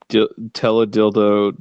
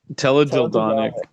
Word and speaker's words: teledildonic: I wonder if he's aware of teledildo technology. What was it? Teledildo. Was it Teledildo? Tel Aviv. It was Tel Aviv. There's another syllable. Dildonic. Teledildonic.